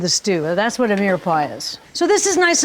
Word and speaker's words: mirepoix: the mirrored the mirepoix you remember mirepoix or mere boy as Americans saying it's simply celery onion